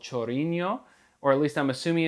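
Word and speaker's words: Chorinho: on a song called chorino or at least i'm assuming it's pronounced chorino it's spelled c-h-o-r-i-n-h-o um reminds me of ronaldinho i actually am a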